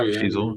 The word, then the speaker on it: Xizor: Is that how you pronounce it? Yeah, Xizor.